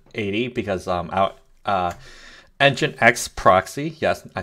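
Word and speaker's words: nginx: 8080 instead of 80 because um I uh engine X proxy yes I said it right finally um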